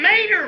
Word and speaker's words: Mater: not only that but mater rhymes with tater too come on let's try